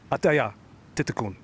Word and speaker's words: Atthaya Thitikul: Just got a pronunciation lesson from her manager, Kenzen Grant. You ready for it? Atthaya, Thitikul.